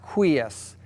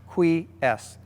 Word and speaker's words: Quies: This is the new Quies massage chair, pronounced Quies. Qui like the word queen without an N on the end, and S like the letter S, Quies.